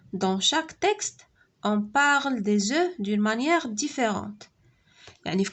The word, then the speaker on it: des œufs: قلنا في pluriel ما كنطقوش الاف، كنقولوا des œufs.